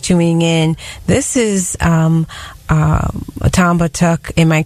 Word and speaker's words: Batiuk: This is Tom Batiuk. Am I pronouncing it right? Yeah, it's Batiuk, but I go by a lot.